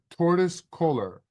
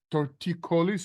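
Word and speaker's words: torticollis: and the guy there told me I had tortois colar and I should wear a neck brace what the heck is tortois colar and how long will I need the brace Joey it's actually pronounced torticolis or torticolis but regardless thank you for your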